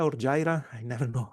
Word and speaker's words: Jira: Then we have NetSuite, then we have Jira or Jira, I never know how to say it. Jira.